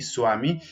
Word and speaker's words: Swami: Por eso a veces, por ejemplo, Swami, que no es Vami, Swami, muchas veces en la literatura inglesa la vemos escrita con una W, justamente por este sonido de U.